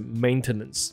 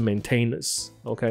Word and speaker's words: maintenance: 发音，它的发音是 maintenance，不是 maintenance。OK，没有这个字，有 maintain